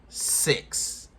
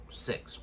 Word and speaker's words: Sicks: The Wyatt 6. Not spelled S-I-X. Spelled like sick with an S. Or sick with two S's. S-I-C-K-S. 6.